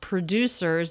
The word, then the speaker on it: producers: And then the first syllable of producers, that has the schwa too. One of the Purdue. Before the voice slows down, takes more time on that up-down shape of do, the stressed syllable of producers.